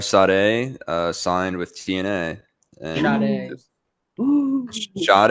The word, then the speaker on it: Sade: And Sade. Sade, I said Sade. Like the singer, dude.